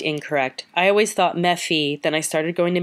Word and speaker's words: MeFi: I've always been a MeFi, but I heard someone calling it Mephi, rhyming with that kid from Family Circus, and I think that's funny and charming, but wrong.